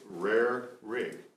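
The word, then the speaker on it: Rarig: And it's Rare Rig, and rare is in a steak.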